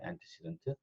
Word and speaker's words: antecedent: 그래서 antecedent라고 부르는데 한번 혼자서 발음을 antecedent예요. antecedent.